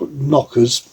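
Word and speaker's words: Nokkers: the destructive not this it's spell it's it's pronounced knockers but I'm not going to go down that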